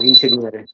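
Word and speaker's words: ingegnere: আচ্ছা, এখানে আছে আমাদের কি ভাই ওই লাস্ট আর একবার বলি, ইনসিনিয়েরো উচ্চারণটা এরকম হবে না, ইনসিনিয়েরো নো নো নো নো, শেখানো যেটা, না দেখেন ইনসিনিয়েরে, দেখেন আমি এবার বলি, সবাই একটু চুপ ইনসিনিয়েরে, থাকেন, সবাই চুপ থাকেন।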